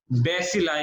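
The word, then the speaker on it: bacilli: और उन सबको हम क्या प्रोनाउंस करते हैं, जितने भी रेड रॉड जैसी शेप के होते हैं उन्हें हम बेसिलाई कहते हैं।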